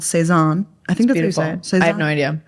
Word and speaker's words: Saison: the pronunciation do you do you look up the pronun yeah like seison like seison seison like yeah so that's what seison I'm pretty sure I have no French